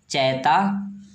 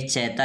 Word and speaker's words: Chaita: एंड सैंग Bhojpuri चैता there, और वहाँ पर ये भोजपुरी चैता गाया करते थे। ध्यान देंगे ये चैता लिखा हुआ है, ये क्या है?